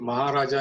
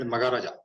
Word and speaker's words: Maharaja: In many places, we always suppose if Maharaja is written, I see you call it Magaraja.